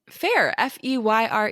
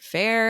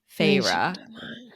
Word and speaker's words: Feyre: in the book, and it literally tells you the pronunciation in the book. Feyre at a part. No, it says in the book, like, it was like, my sister said my name slowly, over pronunciating each syllable, Feyre.